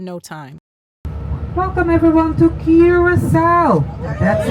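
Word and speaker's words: Curaçao: Welcome everyone to Curacao. That's how we pronounce the name of the island.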